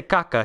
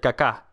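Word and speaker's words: Kaká: Well, he didn't say Kaka. He said Kaka. He put the accent on the right spot.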